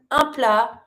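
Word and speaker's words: un plat: careful with this one, ampla finishing with a t. It's a consonant that is most of the time pretty mute. So you're not going to pronounce it.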